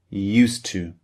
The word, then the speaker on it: used to: Edie used and tio2 because we have a D at the end of used and a T at the beginning of to these two sounds merge together in English they almost become one